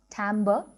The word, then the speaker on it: timbre: instrument down the next concept is actually pronounced timbre and in simple terms